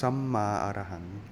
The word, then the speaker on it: Samma Arahang: Pronounce Samma Arahang. It's a Pali word.